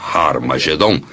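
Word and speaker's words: Ἁρμαγεδών: E realmente em algumas das antigas versões do Novo Testamento, escritas em grego, Armagedon tem o som aspirado no início, que significa que era pronunciada com H. Originalmente era Har Magedon, e é muito fácil passar de Har Megido para Har Magedon.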